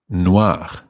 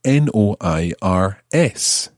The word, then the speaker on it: noir: plural let's take now noir noir to form the feminine adds an e to the end it still sounds the same take the masculine singular